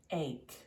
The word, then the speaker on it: ache: CH in the word, it's not pronounced ch. It's pronounced like a K, and ache is the same way.